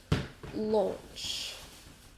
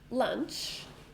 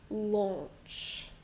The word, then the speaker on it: launch: Also one syllable. Lots of letters, but one syllable. Launch. Launch. Not lunch. Launch. Can you hear the vowel sound together?